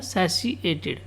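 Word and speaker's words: satiated: ठीक है, इसका जो प्रोनाउंसिएशन है वो क्या है? सैशिएटेड।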